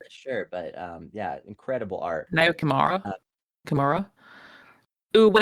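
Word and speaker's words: Naoyo Kimura: Nayo Kimura.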